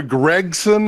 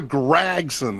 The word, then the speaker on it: Gragson: in nasar well he's not really new Noah Gregson is what they say no it's Noah gragson as far as I'm concerned man will Gregson